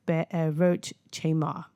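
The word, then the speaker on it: Be'erot Chemar: Now the pronunciation um be a wrote be a roach chamar.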